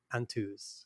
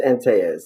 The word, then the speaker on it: Antaeuz: name and sound as Antaeuz. Did I say that correctly? In English, it's Antaeuz, and in Spanish, it's Antaeuz. Okay, in Spanish.